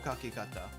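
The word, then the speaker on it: 書き方: means soon boru boru Kaki kakata not kak Kaki Kata way of writing uh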